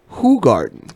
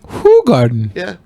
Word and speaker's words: Hoegaarden: yeah it's funny because it's spelled Hoegaarden but it's actually pronounced who garden who garden oh it's a Belgian